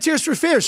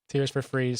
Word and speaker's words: Tears for Fears: Now, why are you laughing at Tears for Fears, Sean? That's a good band. You said it wrong. What did I say? Freeze. Tears for Freeze.